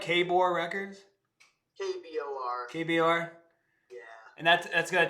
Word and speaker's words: KBOR: KBOR.